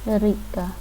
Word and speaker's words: река: When not stressed, we pronounce the letters ya, as a short e. Река. Rika.